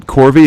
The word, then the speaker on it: Korvi: right I'm the worst when it comes to pronouncing names is it corvy is that your first name yes and then